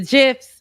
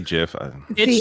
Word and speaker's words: GIF: are saying and now gifts whatever people say Jeff yes okay but they're wrong it's it's a g the Creator is wrong so yeah okay yeah